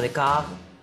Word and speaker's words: Descartes: Te lo deletreo. D-E-S-C-A-R-T-E-S. Se pronuncia Descartes, es francés.